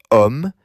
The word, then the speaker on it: homme: Normally, the before a masculine singular noun is le, but homme begins with a silent H. Because the H is silent, French treats homme as though it begins with a vowel sound.